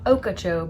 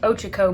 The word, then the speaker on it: Ochoco: stayed in Prineville for 2 nights, went to the, I'm going to try to say it right, not Okeechobee, but Ochoco Mountains, and dug for rocks, hung out, and then the next place we went from there was Arizona.